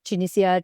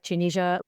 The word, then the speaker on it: Tunisia: You can say Tunisia, Tunisia, there's so many pronunciations.